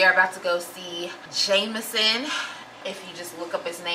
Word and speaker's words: JMSN: you'll think it's jmsn but if you don't know how to pronounce it it is jameson and i'm super excited